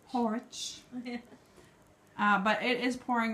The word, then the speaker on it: Horwich: We were going to go out and about in, you have to pronounce the name because I'm going to smash it. In Horwich. Horwich.